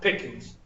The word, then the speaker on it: Pickens: I actually, people from Pickens can actually make 3 syllables out of Pickens. Oh. They can. They go Pickens. They put a second syllable in the ENS.